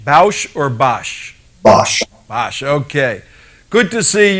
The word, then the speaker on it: Bosch: We need a correct pronunciation. Bosch or Bosch? Bosch.